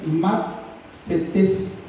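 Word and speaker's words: μαθητής: si lo podemos decir, matsetes, M-A, para los que están anotando, D-S-E, matse, y T-E-S con acento en la última E, matsetes.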